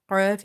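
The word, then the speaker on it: ق: So when it's touching the soft palate, qaf is pronounced and its sound is falling more in the throat.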